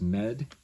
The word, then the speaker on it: Med: So the English letter O, the equivalent in Enochian, is med. Med, as in medical.